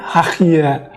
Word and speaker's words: Hagia: Karena Hagia yang dibaca oleh orang Turki, G-nya itu menjadi H. Jadi kalau Hagia sebenarnya kedengarannya Hahia.